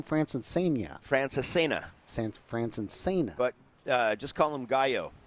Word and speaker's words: Francesena: Francesena.